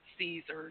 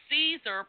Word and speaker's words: Caesar: such as his funeral a Caesar probably pronounced Kaiser wow now that's interesting